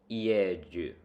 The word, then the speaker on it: ieju: The word for is ieju, pronounced ieju. The J is pronounced somewhere in between a J sound and a DY sound.